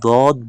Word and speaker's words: ضاد: এখানে একটা জিনিস লক্ষ্য রাখুন, এখানে যে সদ এবং দদ দোনো হরফ কিন্তু দেখতে একই রকম, কিন্তু উচ্চারণ করার সময় এখানে দদ বলবেন, কারণ হলো এখানে একটা নোক্তা রয়েছে, যেখানে নোক্তা থাকবে সেখানে দদ পড়তে হবে।